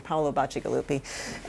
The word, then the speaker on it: Paolo Bacigalupi: me a long time to learn how to pronounce it, so I'm going to say it again, Paolo Bacigalupi.